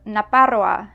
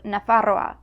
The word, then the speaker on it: Nafarroa: Now, efe seems pretty straightforward, but you may occasionally see or hear a P in words that contain F. Pralie instead of fraile, or naparroa instead of nafarroa, or alperic instead of alferic.